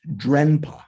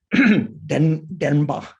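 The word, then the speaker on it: དྲན་པ: the third one, mindfulness, Dempa in Tibetan. You might see it looks like it should be pronounced Drenpa, right? DR, but in that R kind of modifies the sound of the D. Denba.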